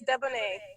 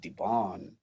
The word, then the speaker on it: Deboneé: I was so stuck on the fact that I was like Debonné. That sounds so French, and it's Yeah, spelled like it. So it's Deboné.